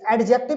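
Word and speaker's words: adjective: एडजेक्टिव, एडजेक्टिव मतलब D silent रहता है, एडजेक्टिव, ठीक है ना, प्रोनाउंसिएशन अच्छा से करना।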